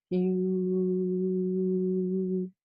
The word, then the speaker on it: HU: So it's like hue, and it's spelled H-U.